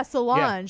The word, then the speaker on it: Solange: Solange. She's the other one. Solange. Yeah, I think that's how you say it. Yeah. Solange with a J.